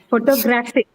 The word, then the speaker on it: photographic: the third syllable right photographic wait it is photography but the moment you add the IC suffix to it the stress changes the pattern shifts now the stress is on the third syllable graph see this okay are